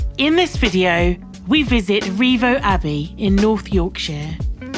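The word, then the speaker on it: Rievaulx: Its old local pronunciation was simply rivers and slowly changed to revo when education of the community bought a general familiarity with the French language.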